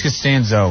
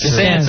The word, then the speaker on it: Costanzo: It's Costanzo. It's Costanzo, a curse. yeah. I mean, it wasn't a curse before Seinfeld came out, but Right, now it's a problem. Now everyone say Yeah. Costanzo, I can't stand So you.